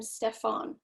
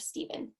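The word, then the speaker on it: Stephen: They called him Stefan instead of Steven.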